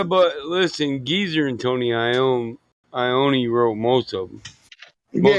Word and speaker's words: Iommi: I mean, it's just like, how do you pronounce Tony Iommi? Is it Tony Iommi? Yeah, Iommi.